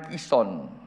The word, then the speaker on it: Kison: Setelah ditangkap, Elia membawa mereka ke sungai Kison dan menyembelih mereka di sana. Bacanya Kison, jangan sungai Yordan ya.